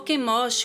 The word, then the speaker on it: Quemos: Moabe, que era uma nação que confiava em suas obras, em suas riquezas e no seu falso deus Quemos ou Quemosh, como se fala em hebraico, né?